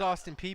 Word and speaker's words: Austin Peay: you explain to me how the the letters p e a y pronounce p i don't know i thought it was pa i thought it was austin p.a so did i so did i maybe it maybe i pronounced it i knew it was austin peay because i remember maybe